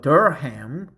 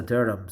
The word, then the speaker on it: Durham: the city of Durham I thought Durham but actually it is pronounced as a Durham so I just visited